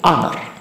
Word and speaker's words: honor: Karena awalannya H. Cara bacanya perhatikan. Cara bacanya itu bukan honor tapi honor. Karena cara bacanya termasuk A, I, U, E, O, termasuk vokal. Jadi dia menggunakan an ya.